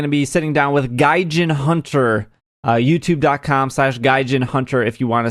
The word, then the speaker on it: Gaijinhunter: Yes, Gaijinhunter.